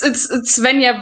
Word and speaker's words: Svenja: It's Svenja, but you can call it Sveni. It's all right. It's a German name, so it's complicated.